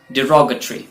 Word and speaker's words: derogatory: इसे आमतौर पर डेरोगेटरी बोलते हैं, लेकिन इसका प्रोनाउंसिएशन होता है derogatory या derogatory, यानी कुछ अपमानजनक, कोई भी बात कहना जो अपमानजनक हो किसी के लिए।